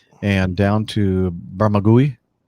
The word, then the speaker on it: Bermagui: I don't know how you pronounce that. Nick, help me out. It's an Australian New South Wales, South Coast. Bermagui, mate.